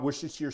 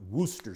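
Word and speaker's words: Worcestershire: 15 M and by the way it's not wer sheer sauce it's correctly pronounced Wooster sauce but it's spell like wch Chester here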